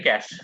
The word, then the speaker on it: cache: So its pronunciation is like a cash, CASH. Okay, it's like a money. The cash is pronunciation cash, but its spelling is different like a cash. Okay, from a cache.